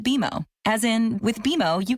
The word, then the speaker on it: BMO: Don't worry, it's more common than you think, but we actually pronounce it BMO.